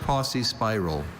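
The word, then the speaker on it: paucispiral: Are there any alternate pronunciations? Just posse spiral.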